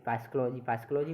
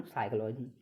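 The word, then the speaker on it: psychology: जैसे PSYCHO एरोजी भाई, फाइस्कोलॉजी नहीं, इसको बोलो फाइस्कोलॉजी थोड़ी बोल लेंगे, इसको बोलेंगे साइकोलॉजी। यानी कि एस से पहले सी आ गई, एस से पहले पी आ जाए तो इसमें क्या होगा, पी साइलेंट है।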